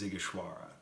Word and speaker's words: Sighișoara: Vlad the Impaler was born in a city, a walled city, called Sighișoara. It's in the heart of Transylvania. It is not spelled like it sounds, but the proper pronunciation is Sighișoara.